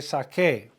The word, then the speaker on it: saqué: The yo form is saque, S-A-Q-U-E, accent on the E. Again, quiero que vengas a mi casa para que puedas ver las fotos que saqué.